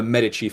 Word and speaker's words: Medici: I'm sorry, the Meduche family. Excuse me. That is a delineation. I'm using a very strict Latin pronunciation here.